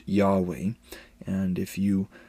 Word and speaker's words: Yahweh: Most scholars believe this name was originally pronounced Yahweh, and if you pronounce